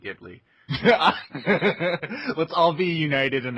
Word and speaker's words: Ghibli: the week that um Studio jibli or gibl or however you want to pronounce it either you guys have a preference I'm going to say ji I'm okay with jibli okay the fact that we think it's jibli makes it almost certainly gibli let's all be United